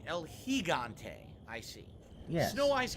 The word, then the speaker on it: El Gigante: Gigante, I'm saying it wrong. It's supposed to be El Gigante.